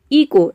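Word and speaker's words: echo: इको, यहाँ पे भी देखिए एच के बाद ओ आ रहा है, इको मतलब होता है गूंज या फिर प्रतिध्वनि। तो इसके अलावा किसी भी वर्ड में अगर एच के बाद ओ आ जाता है तो वहाँ पे एच जो है वह साइलेंट रहता है, केवल हम ओ को प्रोनाउंस करते हैं।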